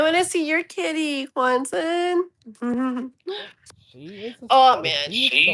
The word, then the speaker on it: Juantzin: Juantzin is perfect. I don't mind, and it's actually the way you pronounce it, really.